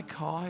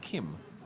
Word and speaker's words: Kim: the second thing is so many people at the track come up and they say oh hi kai or hi or hi and i realize it's because i don't say my name you see my name but the font that i use obviously flaws some people so i'll say it again it's kim i just think k-i-m it's kim very simple but